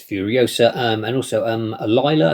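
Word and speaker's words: Alyla: um and also um Aila I think it's pronounced alila Brown is playing furiosa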